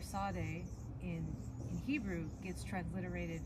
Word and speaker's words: Tsade: trouble pronouncing the letter Sade but if you think of pizza then uh you should be good to go yeah yeah and it